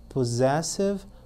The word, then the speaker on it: possessive: Complete with an appropriate possessive adjective. Ok? Só um detalhezinho. Nós vemos 2 S's ali, mas para quem pronuncia, tem somzinho de Z.